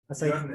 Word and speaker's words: Björn: The Nordic don't pronounce it that way. It's you've seen Viking? Yeah, actually, I tried getting into it. Björn. That's how you pronounce it.